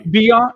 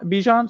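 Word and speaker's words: Bijan: number three no yeah you're ahead of me Beyond Bijon sorry no Adam Scheffler is saying it right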